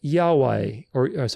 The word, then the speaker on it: Yahweh: And it's pronounced Yahweh, Yahweh. Yahweh. You'll see how it looks like. We'll go through a very specific pronunciation. The Y is pronounced as in lily or yes.